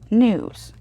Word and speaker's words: gnu: african animal it's a it's a new but it's spelled gnu right so that's the backstory